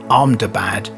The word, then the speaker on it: Ahmedabad: Air India 171 involved a Boeing 787 Dreamliner travelling from the Indian city in Gujarat, pronounced Ahmedabad, to London Gatwick in West Sussex in the UK.